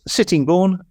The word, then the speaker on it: Sittingbourne: So that's Sittingbourne, correctly pronounced as I understand it.